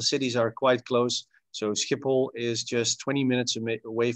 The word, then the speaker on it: Schiphol: Schiphol. Schiphol. It's the same Schiphol. Combination of letters. So S, C, H, Schiphol, indeed.